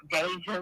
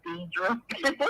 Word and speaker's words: Deja: So first, it's pronounced Deja, not Deidre.